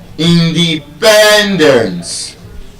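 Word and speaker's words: independence: It's a polysyllabic word and because of the penultimate stress rule, instead of being stressed on just any syllable, it is stressed on the second to the last syllable. in de pen dance.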